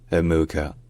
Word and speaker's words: Amuka: So, her first surname is Amuka, with the stress on the second syllable. So it's Amuka.